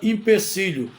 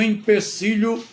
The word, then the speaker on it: empecilho: vídeo temos a palavra impecílio na verdade a palavra não é impecílio é ío é escrita com e e m p e c i l h o empecilho ou seja obstáculo desafio